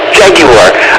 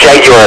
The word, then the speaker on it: Jaguar: Jaguar. I think it's pronounced Jaguar. At least that's what they used to say on the commercials, even though we all call it Jaguar.